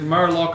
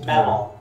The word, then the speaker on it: mellon: Is it Murloc or Merlon? Melon. It's Merloc. Yeah. Okay. Yeah. I believe it's pronounced Merlot.